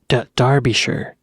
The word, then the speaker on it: Derbyshire: Derbyshire, I believe is how it's pronounced.